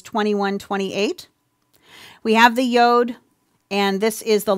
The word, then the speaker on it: yod: of ways some say yod but um Frank sein says it rhymes with mode yod so that's kind of